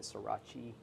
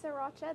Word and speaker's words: Sriracha: Now, some people pronounce that Srirachi. It's Sriracha. There's that.